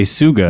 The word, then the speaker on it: Tsuga: this is just a Suga yeah this is a straight Suga straight suguna spelled with a t everyone it's uh I